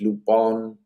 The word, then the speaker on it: Lupin: are are seen looping gentlemen burglar pronounced lupon there's some badass stories